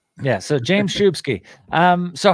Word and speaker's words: Szubski: people get it right the first time it's pronounced shubsky Shi shsk I was wrong yeah so James shubsky um so how long have you spent in